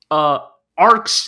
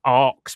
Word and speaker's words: ARX: Everybody, a round of applause for Mobile Suit Gundam, RG, ARX, the X is silent, Zero.